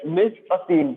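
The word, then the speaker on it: mise-en-scène: इसका जो प्रोनाउंसिएशन है that is miss a scene, यानी कि कंपोजिशन ऑफ अ फ्रेम।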